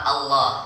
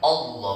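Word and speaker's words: الله: Sama baca kalimat Allah, bukan Allah tapi Allah. Allah. Bukan all. Enggak ada huruf all itu apa? Alif berharakat di atas bacanya a, bukan o.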